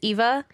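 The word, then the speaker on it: Aoife: checking in and their their daughter's name was um Eva and I spelled it correctly it's AO i f e looks like e AIA and I literally knew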